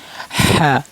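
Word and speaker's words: ح: এটা হলকের মধ্যখান থেকেও, মানে গলার মধ্যখানে একটু চাপ দিয়ে উচ্চারণ করবেন। হ্যাঁ হ্যাঁ হ্যাঁ হ্যাঁ।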